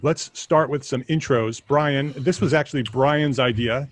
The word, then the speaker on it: Brian: is brian mccartney it's it is brian not byron a lot of people get that mixed up because it's spelled a little bit differently but uh i am